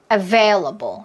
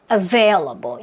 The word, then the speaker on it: available: available 이렇게 소리를 내시는 거. 여기서 뭐 했어요? 제가 지금 숨 마시고 available 여기서 뱉었죠.